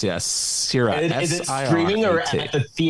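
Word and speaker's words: Sirāt: It's called Sirat. I guess that's how I pronounce it. Yes, Sirat.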